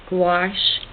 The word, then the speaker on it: gouache: or you can use Winsor & Newton Designer's Gouache, Gouache, but it's pronounced gouache.